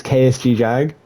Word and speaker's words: KSG Jag: For context, it's KSG Jag. You pronounce the first 3 letters as the letters and then just Jag at the end.